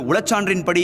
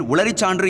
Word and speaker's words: உளச்சான்றின்படி: அப்பொழுது உளச்சான்றின்படி என்று கூறுகையில் உளறிச்சான்று என்று கூறி தடுமாறினார் என்பது குறிப்பிடத்தக்கது.